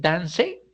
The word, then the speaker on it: dance: supongamos que no séa Será que es Dance y escuchémoslo porque Dance no es como se no es como se pronuncia sino Dance Dance Sí mire que es aquí está la pronunciación y es dance en este caso la e no suena vamos por otro por